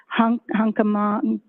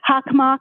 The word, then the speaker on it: Hockomock: I cannot pronounce it. It began with an H. Hockomock Sports. Hockomock. Okay, thank you very much for the pronunciation.